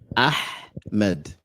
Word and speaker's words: Ahmed: So, Ahmed is ha. You're saying ha. These are different letters.